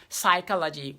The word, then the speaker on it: psychology: Why do we have psychology? What's the P doing in psychology?